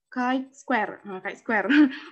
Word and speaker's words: chi-square: S, terus statistik sampel X chi kuadrat diucapkan, ini cara bacanya chi-square, memiliki distribusi sampel yang disebut distribusi chi-square.